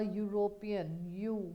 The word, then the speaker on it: European: A European, your. It is sounding like Y first comes first and then O.